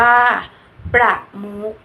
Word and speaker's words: ประมุข: ตัว เลข อ่าน ว่า ตัว เลข ประมุข อ่าน ว่า ประมุข คำ ทั้ง 2 คำ นี้ ใช้ ข ไข่ เป็น ตัว สะกด แต่ จะ อ่าน ออก เสียง เหมือน ตัว ก ไก่ สะกด ค่ะ ตัว สะกด ตัว ต่อ